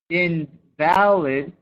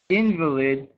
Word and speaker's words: invalid: we go right so invalid um is not viable not true invalid means sick so that that actually changes the meaning of the word depending on how you pronounce it and then uh